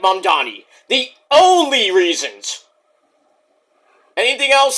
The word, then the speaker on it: Mamdani: We'll see what Mamdani does. Not Muhammad Gandhi, but, you know. He kind of rhymes with Gandhi, but he's not Indian, but he's a Muslim.